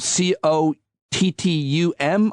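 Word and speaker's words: Cottom: Her last name is Cottum, Cottum, I believe. O-M. Tracy McMillan Cottum. Is that how you say it? Yes.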